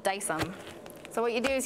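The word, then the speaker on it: Dycem: And then I have Dice-Em. It's spelled D-Y-C-E-M.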